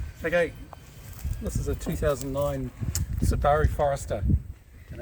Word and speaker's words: Subaru: this is a 2009 saari Forester and it's in New Zealand so it's pronounced saaru and I need to